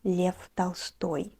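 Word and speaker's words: Лев Толстой: man of true greatness, Leo Tolstoy, or else Lev Tolstoy, the true pronunciation of his name in Russian.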